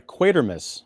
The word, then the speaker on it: Quatermass: because we're talking about quater Mass sorry quater Miss I gotta pronounce it the the way that that Mr Brian Dunley pronounces it or at least the people around him quater Miss to from